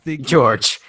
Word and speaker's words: Jurge: off the and put parenthesis after my first name George that's what I'm thinking like a phonetic pronunciation yeah George George